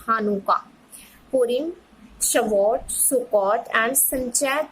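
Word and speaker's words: Hanukkah: पिसाक, रोज, हशाना, योम किपोर, हानुका, it's pronunciation is हानुका, Purim, Shavuot, Sukkot and Sanchat Torah are the festivals of Jewishism।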